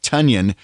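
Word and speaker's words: Tonyan: one which rhymes with tanyan which makes me wonder why our tight end suddenly claims his name is pronounced in a way that rhymes with funyun uh personally i think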